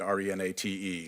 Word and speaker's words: Renate: you know Renata Renata it's spelled with an e at the end re na te is direct okay and